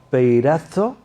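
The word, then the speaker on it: πειράζω: La palabra tentación en el griego es una palabra, se pronuncia así, peirazo.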